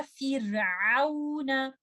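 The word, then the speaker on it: فرعون: Wa fir'auna. Do not make this kasra like fe sound. Fir. Say fir. Do not say fir.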